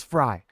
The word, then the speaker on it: Frey: It's spelled Frey, but everyone says Fry.